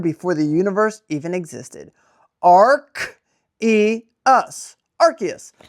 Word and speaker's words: Arceus: It's very simple. Arc, see that? Arc. Arceus. Arceus. Not Arceus. Arceus. It is told in mythology that this Pokemon was born before the universe even existed. Arceus.